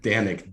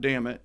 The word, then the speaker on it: Dannic: do you spell it danic d-a-n-n-i-c okay so it's not damn it which is good so damn it danic